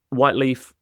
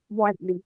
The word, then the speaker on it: Whyteleafe: right yeahh now this is how do I pronounce it white white leaf white leaf Park yeah white leaf Park and is white